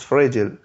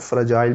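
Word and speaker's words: fragile: द एग, जो अंडा है, वॉज फ्रेजिल, इसको फ्रेजिल भी पढ़ते हैं और फ्रेजाइल भी पढ़ते हैं, ठीक है, यू अमेरिकन और ब्रिटिश की प्रोनाउंसिएशन है।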